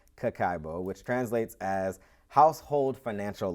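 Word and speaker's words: kakeibo: the Japanese practice of Kokubo pronounced cacao which translates as household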